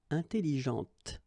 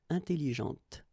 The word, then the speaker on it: intelligente: Intelligente. Same thing here. When you put this well, actually you will pronounce the final T, okay, but you don't pronounce this here. Intelligente.